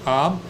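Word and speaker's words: עם: It's the consonants are only two, and it's pronounced am. You could say am like in English, but it's not. It's am.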